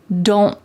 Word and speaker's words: don't: Do not becomes don't, but when we pronounce it in a fast sentence, you're more likely to hear don't. My tongue is at the top of my mouth, like it's going to make that T shape, but I just don't